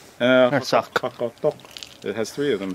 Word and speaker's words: Narsaq: little bit different than a Q at the end. So, it's you know, but the final Q is really usually pretty well pronounced.